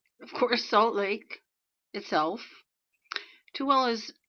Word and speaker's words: Tooele: 2 burned in Tooele, this is pronounced Tooele, titanium plant explosion.